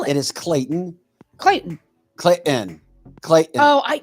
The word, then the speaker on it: Clayton: for sure but they didn't know how to pronounce the word Clayton what they call it it is Clayton Clayton Clayton Clayton oh I yeah Clayton there's